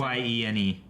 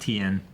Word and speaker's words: Tyene: Is it spelled the same? Tyene. Okay. It's not Tien.